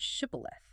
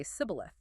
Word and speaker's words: shibboleth: Anyone trying to cross has to say the word shibboleth. Because the Ephraimites had a regional dialect, they couldn't pronounce the sh sound and would say sibboleth.